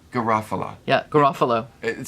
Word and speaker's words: Garofalo: pierce paul rudd and uh how do you pronounce her name janine janine garofalo garofalo yeah garofalo it sounds like a storybook that